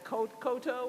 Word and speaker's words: Cotto: in schenectady uh cotto who's there as well so we welcome her to the district sorry i take it i mispronounced your last name koto is that correct okay forget the second t all right we